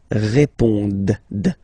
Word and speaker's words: répondent: Ils répondent. So same thing here, classic ending, ENT, but then you don't pronounce it. Okay? Répondent.